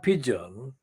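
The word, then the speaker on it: Pidgeon: London assembly member and fronter called Caroline pigeon pigeon is spelled p-i-d g-e-o-n is quoted in the guardian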